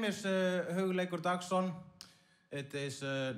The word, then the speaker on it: Hugleikur: a trick to it my name hon sounds exactly like the chorus to the song Who Let the Dogs Out so you can imagine